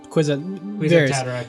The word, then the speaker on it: Kwisatz Haderach: The whole point of what the Kwisatz Haderach, is that how you pronounce it? Kwisatz Haderach, yeah.